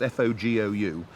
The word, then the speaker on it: fogou: I know it's spelt F-O-G-O-U, but it's pronounced fogou.